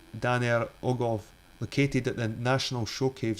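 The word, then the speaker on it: Dan yr Ogof: Dan he talks about Dan y ogof Welsh pronunciation Danel oov located at the national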